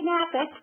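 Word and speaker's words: Knapik: resolve any issues whatsoever candy napic with the silent k as the first letter of her last name truly is your go-to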